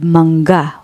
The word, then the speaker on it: mangga: Next, the word mangga, which means mango. Here, the ng is a single sound, like in the English word sing. So don't split it. You can read it as mangga, mangga.